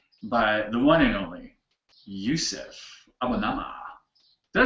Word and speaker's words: Yusef Abonamah: A very sexy demonstration by the one and only Yusef Abonamah.